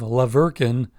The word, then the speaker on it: La Verkin: I ended up staying in the town of La Verkin. You spell that Laverkin, and it's about 30 minutes away.